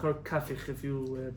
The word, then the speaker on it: Kafich: There is a chacham, Rabbi Yosef Kapach, or Kafich, if you pronounce his name correctly.